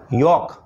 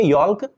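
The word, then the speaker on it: yolk: theory इस right pronunciation जोक अंडे में पीला पार्ट अंडे का जो होता है उसको जोक बोलते हैं यूके मैं यहां ल साइलेंट होगा लिखेंगे योक बट पढ़ेंगे योक क्योंकि ल साइलेंट है महीने का नाम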